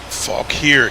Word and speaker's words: Fauquier: I was saying it, I think I was pronouncing the U-I-E, like, phonetically, and the way it sounded, I was like, nah, that sounds almost almost vulgar.